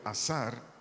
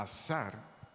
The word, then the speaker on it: azar: ayudador de un vocablo hebreo azar a Z a a r acento en la segunda a azar tiene varias definiciones una